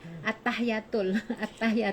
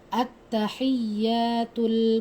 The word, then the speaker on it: at-tahiyyatul: Dulu Umi bacanya waktu dulu nih at-tahiyatul. Oh, tanpa ini. Kan nggak belajar dulu Nggak ada kan. tasydidnya. Kan mestinya at-tahiyatul kan ada tasydid. Coba Kak. At-tahiyyatul mubarakatus salawatut thayyibatu lillah.